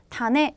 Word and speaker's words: 種: 이 글자는 'tane' 으로 읽히는데 , 우리말 로 씨앗 을 의미 하고 , 네 번째 선택지는 ' 뿌리 '( 根 ) 라는 글자 입니다 .